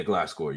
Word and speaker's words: Gliscor: Yeah, Gliscor.